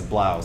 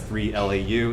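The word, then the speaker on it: 3LAU: guy called three loud three lau but it's pronounced as blouse so if you see it as three lau it looks like blah Araya so I'm out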